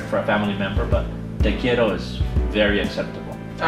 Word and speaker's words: te quiero: in Spanish you say te quiero te quiero yeah pronounce that r as in letter kielo I can't tell you very soft roll thank you yeah yeah